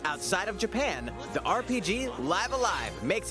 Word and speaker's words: Live A Live: previously unreleased outside of japan the rpg live alive makes its overseas debut okay so that's the official pronunciation stories featuring different protagonists and time periods